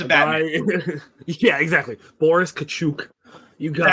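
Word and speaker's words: Katchouk: Boris Kachuk. Is that how you pronounce it? Kachuk, yeah.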